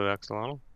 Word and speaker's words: axolotl: Is it called an axolotl? How do you pronounce it?